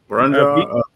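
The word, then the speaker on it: Burrunjor: Wilson, are you familiar with the, I'm not sure how to pronounce it, but is it Boronjo? Or Borneor, I'm not sure. Proper pronunciation. Burunjor? Burunjor.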